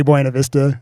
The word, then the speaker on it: Buena Vista: We would come, and since we're in Buena Vista, or BV, if you're local, Buena Vista, or we still say Buena Vista.